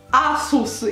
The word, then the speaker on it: Asus: se il processo dovete asus si pronuncia a sousse io pensavo o asus asus no asus ragazzi quindi entrambe le esse sono esse sorde e la si pronuncia come in italiano asus io non penso che